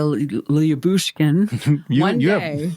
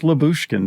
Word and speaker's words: Lyubushkin: Just Lyubushkin. Don't look at it. Well, but there's a why. You're supposed to say the why. Well, I guess I'll just say Ilya Lyubushkin.